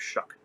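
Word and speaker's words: Shough: show Shuck looks like show sounds like Shuck see can't even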